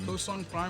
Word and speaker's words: KosongPrime: KosongPrime versus Mante. Yes, I wanted to say KosongPrime. No, there's no N. There's no second N.